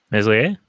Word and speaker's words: Meslier: had a massive chance, and I can never pronounce the Leeds goalkeeper's name. Boys, can you help me? Meslier?